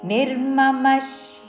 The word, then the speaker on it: నిర్మమః: పక్కన చాకి యావత్తు విముచ్య నిర్మమష్ నిర్మమష్ విసర్గ ఉచ్చారణ తాళవ్య ష శాంతో తాళవ్య షా దీర్ఘముతో